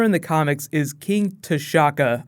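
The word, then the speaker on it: T'Chaka: the comics is King tashaka I say his name like Shaka Zulu black panther all also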